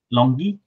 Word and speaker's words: LONGi: How to pronounce that? LONGi.